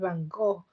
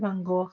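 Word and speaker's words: Van Gogh: Hey, Vincent Van Go, you got it. So, the Van Go is spelled G O G H.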